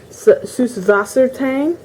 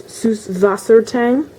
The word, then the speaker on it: Süßwassertang: That's actually how it's pronounced in German. The B, the third letter, is actually not a B. It's actually a type of letter in German that is pronounced S. So it's Süßwassertang.